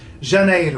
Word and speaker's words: Janeiro: O's so you got that the J is pronounced shut in Portuguese J is always young no exceptions so there you go Junaid oh it's not too hard D evenly isn't